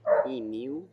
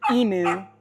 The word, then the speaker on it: emu: E mew? E mew. It is not emu, which is how us in America, you know,